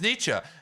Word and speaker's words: Nietzsche: And so then everyone else is, no, it's Nietzsche.